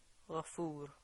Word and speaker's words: غفور: How would you pronounce it if you were going to stop on it? Ghafur.